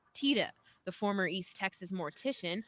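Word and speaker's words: Tiede: that for 15 years, most people have been saying his name wrong. So I heard when you introduced yourself to Lynn, you said Tita. Yes. Tita. Yes. Okay. Bernie Tita.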